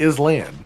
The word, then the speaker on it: island: yeah well it definitely is land sorry Island sometimes I forget how to pronounce that who decided that patches of land in water should be called islands with a silent S I don't know is